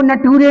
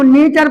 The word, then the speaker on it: nature: सर बोले अबे इसको नटूरे नहीं पढ़ते हैं, इसको नेचर पढ़ते हैं।